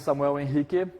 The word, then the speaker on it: Samuel Henrique: My name is Samuel Henrique. That's the Brazilian pronunciation of my name because I am Brazilian.